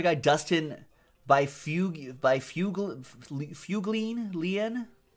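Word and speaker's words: Byfuglien: Dustin by few give by fugle if you glean lien which apparently is pronounced buff Lynn doesn't doesn't read like that definitely doesn't read like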